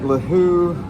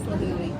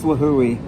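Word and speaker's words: Līhuʻe: Here we are at Lahu or Lahui. It's Lahui. You pronounce each vowel separately. It's Lahui Airport in Kauai.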